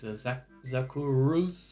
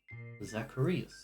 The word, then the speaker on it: Zacharias: It's just always Zakurus and Zakuras and... 4 syllables. Zacharias, alright?